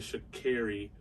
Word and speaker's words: Sha'Carri: america's fastest woman miss shikari richardson i apologize i got your name pronunciation incorrect prior but it should carry richardson um it was unfortunate